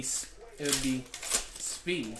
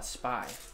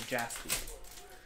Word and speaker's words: Jaspy: But it would be Spee. Everyone would say, oh, Spy. But no, it's not like that. It's Spee. Or Jaspy. So. There's some look inside of Jaspy's there.